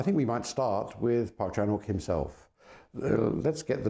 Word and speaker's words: Park Chan-wook: as it were of Park Chanuk's uh revenge trilogy. Uh so I think we might start with Park Chanuk himself. Let's get the name clear first. It is Parkchanuk. The W is not pronounced.